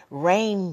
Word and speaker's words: reign: because when you say rain gear it's spelled differently it ain't it's not it ain't listen to me it ain't it ain't Rain r a i n it is re e i g n exactly exactly so um